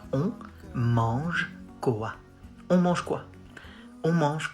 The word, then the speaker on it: on mange quoi: On mange quoi? Lots of nasal sounds like on mange quoi?